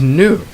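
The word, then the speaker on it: gnu: the G next is new that's an animal it's an it's an antelope a large African antelope and then you have foreign okay you also drop the G next is words that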